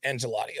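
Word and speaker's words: Ancelotti: was going to leave oh I pronounced that incorrectly it's angelotti okay my bad angelotti was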